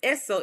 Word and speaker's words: Esso: Standard Oil is Esso, some of which Standard Oil had the rights to the brand in certain states. Other companies had no territorial rights. Okay? The name Esso is phonetically pronounced S-O.